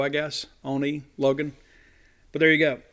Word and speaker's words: Oni: Even though their Ani pronounces it more with a longer O, I guess. Oni Logan.